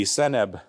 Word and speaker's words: senb: then it says SNB it's spelled out s NB senb this is be cbit because it's it's feminine but it says senb which means health of